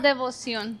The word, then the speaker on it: Devoción: It's called devoción. So, like Devoción. devotion in Spanish.